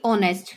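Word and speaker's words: honest: इन new York ओं हैं जैसे कि कुछ साइलेंट वर्ड है जैसे ही ऑनेस्ट हुआ है यह होने लिख रखा बट अच्छे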